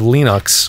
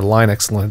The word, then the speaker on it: Linux: much this side of lenux or Linux depending on how you an pronounce it it runs on pretty